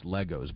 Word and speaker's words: LEGO: I believe it's Legos, but I don't know that for sure. I believe there it was pronounced Legos, Lay, L-A-Y-G-O-S. Yes, it's interesting.